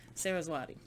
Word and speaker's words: Saraswati: i want to say her name right sarah sarah swati sarah zawadi saraswati okay so it was sarah's body uh-huh and